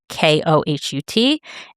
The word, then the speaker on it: Kohut: And those are Rabbi Alexander Kohut, and I don't know if I'm pronouncing his name wrong. It's Kohut.